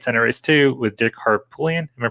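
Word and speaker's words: Harpootlian: for a state senate race too with dick harpullian am i pronouncing that right yeah um so you know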